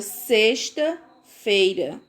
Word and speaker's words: sexta-feira: A palavra sexta-feira. A palavra explicar. Vejam só. Tem o X na palavra, mas o som é do S.